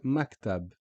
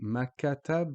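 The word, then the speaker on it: مكتب: So you notice here we stop on the K sound. So we say maktab. And we stop on the B sound. So we don't actually say makatab or makutab or makitab. It's just maktab.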